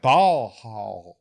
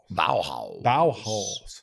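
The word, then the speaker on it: Baohaus: Yeah, but this one is spelled like Korean buns. Oh. So it's ba- B-A-O-H-A-U-S. Yeah, yeah, okay. Bauhaus. Bauhaus.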